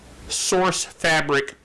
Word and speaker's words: Sourcefabric: netcast with the airtime source fabric product that was the And Linux. He said it right this time. I had to work on it, though. I really did, because I keep on saying SourceForge.